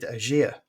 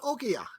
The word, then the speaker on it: Oghia: Hello and welcome to Retro Asylum, Oghia. Is that right? Did I pronounce it right that time? Perfect. Oghia, it's perfect. And let's explain to our